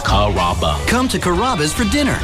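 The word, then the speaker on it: Carrabba: You know, Kaba, Kamaba, Kamba. It's a really easy name to pronounce. It's Kaba.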